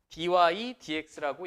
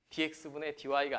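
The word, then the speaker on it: dy/dx: 오른쪽에 dydx라고 읽는다. dx분의 dy가 아니라 dy dx라고 읽는다.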